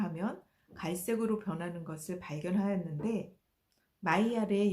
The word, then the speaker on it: Maillard: 마이야르는 아미노산과 당질을 함께 가열을 하면 갈색으로 변하는 것을 발견하였는데 마이야르의 영어 발음인 메일라드를 따서 메일라드 반응이라고 부르게 되었습니다.